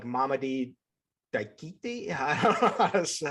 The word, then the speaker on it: Mamadi Diakite: It's Mamadi Diakite.